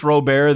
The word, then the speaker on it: Robert: me so mad that his last name is pronounced Robert why is it not Luis Robert it's so dumb change your name Luis robare the dong hater uh you've got and I've